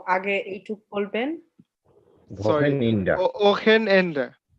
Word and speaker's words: Wochenende: Wochenende.